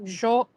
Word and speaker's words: João: That sound is ow. So, João.